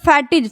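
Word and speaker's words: fatigue: हैं फैटीज ठीक है तो फैटिक पढ़ रहे हैं क्योंकि यह यु का उच्चारण हम नहीं कर रहे उसका मतलब क्या होता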